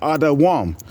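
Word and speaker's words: אדום: word for red okay how do you say red in Hebrew it's adaam okay so so we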